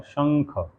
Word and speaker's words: शंख: लीजिए शंकर, चाहे शंख, तो अब शंख में श के ऊपर बिंदी लगती है, तो बिंदी क्या पढ़ी जाती है, अंग, शंख।